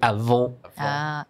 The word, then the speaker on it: avant: like avant or avant, but French is actually avant. Avant. And because the word that follows is garde, it's a G. It's not a E or an A, so you don't actually pronounce the T.